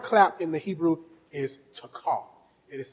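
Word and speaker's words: תקע: The word clap in the Hebrew is takah. It is spelled in English.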